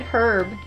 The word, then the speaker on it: herb: rabbit ribbit lesbians so true I thought you were gonna write herb I guess the herb we don't pronounce age you sherbet sherbet sherbert